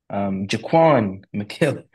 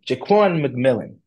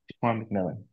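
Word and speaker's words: Jaquan McMillian: Jaquan McKillen. I got this name wrong. Jaquan McMillan. Jaquan McMillan.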